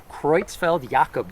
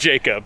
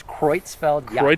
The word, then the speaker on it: Creutzfeldt-Jakob: So, I looked at the pronunciation of that is Creutzfeldt-Jakob disease. Oh my gosh. Okay. looks like what you just said. Jacob. Yes. But it's Creutzfeldt-Jakob.